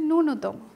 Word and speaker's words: ন্যূনতম: এ জফলার কারণে মাঝখানের দ্বিতীয় দন্ত্যের উচ্চারণ ডাবল হবে, দ্বিত্ব হবে, দুইবার উচ্চারণ হবে, জফলার জন্য দুইবার উচ্চারণ হবে।